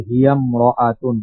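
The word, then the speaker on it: هي امرأة: যেমন দেখেন হিয়া ইমরাতুন, ভেঙ্গে পড়লে এমন হয়, কিন্তু মিলাই পড়ার সময় হিয়াম রাআতুন।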